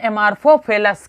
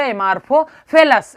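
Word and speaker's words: Amorphophallus: इसको बोलोगे एमार्फोफेलस। क्या बोलोगे? एमार्फोफेलस।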